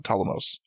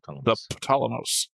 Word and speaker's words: Ptolemaios: Where I'm I've gotten used to saying the Ptolemaios. Which, you know, I used to pronounce the P, so at least I'm making progress. Yeah, Ptolemaios.